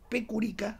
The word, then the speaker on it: Pecurica: Pecurica, se escribe así como suena, contra Bosco Damljanovic.